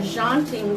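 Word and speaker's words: tjanting: dipping tool is it's called a jaunting tool again spelled oddly with the T in the front I believe so you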